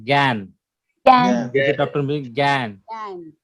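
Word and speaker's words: גן: right pronunciation. Gan.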